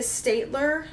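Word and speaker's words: Staedtler: have my second favorite pens these are the state ler and that's how you pronounce it try + fineliners you see a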